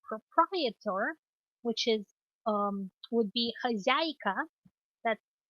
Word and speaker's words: хозяйка: For the alternative to owner or proprietor, which is would be хозяйка. That's хозяйка, хозяйка.